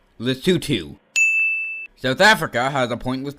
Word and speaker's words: Lesotho: Lesotho and It's pronounced Lesotho.